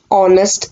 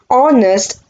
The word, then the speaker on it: honest: it because the word honest gives a verbal sound that means h is silent o is being pronounced as ah so we have added